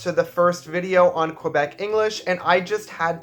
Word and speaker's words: Quebec: First things first, I said Quebec. Yes, I know that the proper French pronunciation of this word is Québec, but in my dialect of Canadian English, we just don't say it that way.